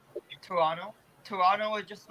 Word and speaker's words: Toronto: about the pronunciation of did people get really angry if you say the second t in toronto because i've heard people get really angry yeah like they say toronto i mean like personally